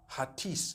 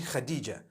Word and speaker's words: Hatice: In Turkish, some people spell it HATICE. I would say Hatis for that. No, it's actually Khadija.